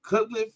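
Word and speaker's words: Cutcliffe: I even go back even further David cut cutliff that's how you say his name he kept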